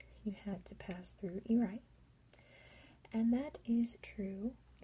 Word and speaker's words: Airai: But I am like 90% sure that this part of Palau is pronounced Airai. It looks a lot like Airai in English, but in Palauan I am pretty sure it's pronounced Airai, which is really neat.